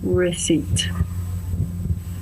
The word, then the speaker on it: receipt: Pay attention to the pronunciation of receipt because it's spelled receipt, but pronunciation, receipt.